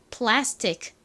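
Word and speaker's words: plastic: C 써 주시면 됩니다 정확히는 c 크 소리가 나서 이부분이 트 플라스틱 플라스틱 이렇게 소리가 나지만 C 굉장히 약하게 발음이 나다 보니 마치 받침 럼 요렇게 들린다고 말씀드렸죠 플라스틱 플라스틱 이렇게요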